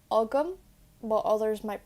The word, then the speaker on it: agam: I always pronounce it like agam, but others might pronounce it like agam.